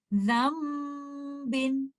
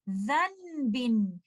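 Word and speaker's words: ذنب: Although you see letter noon sakina written clearly, but in pronunciation, you will not give letter noon sakina. Rather, you will join letter zal with letter meme and recite it like this. Zambin. And you will not say zanbin, because in that case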